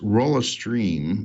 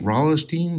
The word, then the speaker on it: Rolisteam: interesting project today and I occasionally mispronounced it as Rahl a stream but it's not as Rahl esteem wrong Rallis team something close to that and what it basically